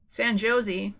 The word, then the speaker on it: San Jose: San Jose? That's how you pronounce that one for sure.